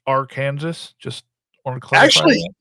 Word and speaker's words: Arkansas: available in rolls and bags uh sir that's pronounced R Kansas just want to CL actually I will tell